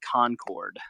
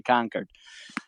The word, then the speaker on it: Concord: Conquered. Conquered. That's I was informed at the podcast taping today that is how you say it. It is not Concord. Uh like you know a true a true Englishman should say conquered.